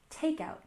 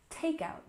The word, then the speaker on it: takeout: We stress the first syllable, takeout, takeout.